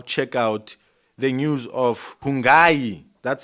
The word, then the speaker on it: Hungani: So, ladies and gentlemen, we are about to now check out the news of Hungani, that's how they pronounce it, Ndlovu, and Stephanie Sandows Ndlovu, as their marriage comes to an end.